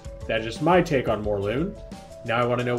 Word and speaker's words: Morlun: Morlun, not Mordoon, Morlun.